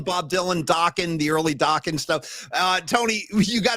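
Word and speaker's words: Dokken: the Dawan career because people were mistakenly calling the band Dokan. So then they came out with the with the phrase, listen, Dockan rhymes with rocking. You got to say it like that.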